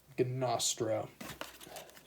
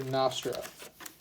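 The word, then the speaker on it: Gnostro: our other legendary creature gonostro or nostrap I guess the g is silent so we are just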